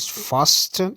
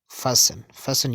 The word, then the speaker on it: fasten: People pronounce it fasten. It's not fasten, it's fasten your seat belts.